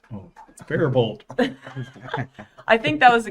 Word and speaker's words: Faribault: Faribault. Oh, Faribault.